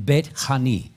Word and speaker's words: Bethany: of Beth in Bethany the word is actually pronounced bet pagi and betani pagi or pagy fruit is a fig in